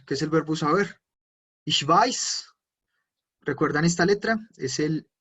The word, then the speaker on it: ich weiß: ¿Cómo se pronuncia el ich weiß?